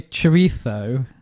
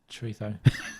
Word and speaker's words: chorizo: Don't be one of those English idiots who tries to do a Spanish accent. Like, if you've got any chorizo, it's so awkward. You don't have to say it like that, though. Well, yeah, because that's how else do you say just it? Say, your mate, chorizo. No, just say Z.